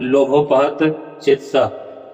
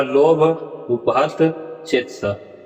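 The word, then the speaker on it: लोभोपहतचेतसः: और इस तरह से अब यहाँ पर ध्यान दीजिए, यहाँ लोभोपहत चेतसा ऐसा उच्चारण नहीं होगा, उच्चारण होगा लोभ उपहत चेतसा।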